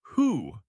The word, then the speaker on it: who: The most important one is who. Wo. You say who. Who. You do not say the W sound at all.